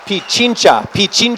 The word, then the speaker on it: Pichincha: And it's pronounced Pichincha, Ecuador.